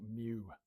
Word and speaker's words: mu: Mu mu said pronounced mu.